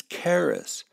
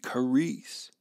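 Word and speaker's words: χάρις: first daughter charisse in in the new testament it's keras and we made that that iota into a long e caris now among other things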